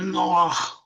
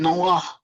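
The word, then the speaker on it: נֹחַ: In Hebrew, you pronounce it Noah with a kasal ha at the end, Noah.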